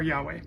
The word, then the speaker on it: Yahweh: there an h there this is either a v or a w depending on how you pronounce it put a v and an h so yave or yahweh so god gives them